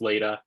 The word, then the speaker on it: Leda: name is Leda I get Lada a lot so um but it is pronounced later um it's okay if I